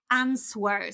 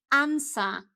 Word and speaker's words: answer: So, many many many people say answer. So, they actually insert, add this w into this word. But this is simply answer, okay? Answer. Repeat after me. Answer. So, there is no w in the middle.